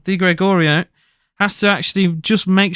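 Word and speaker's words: Di Gregorio: but he actually needed to be saved by deor D sorry I said his name wrong D Gregorio has to actually just make sure he watches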